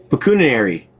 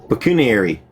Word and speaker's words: pecuniary: Pecunary. Wait. Pecuniary. Pecuniary.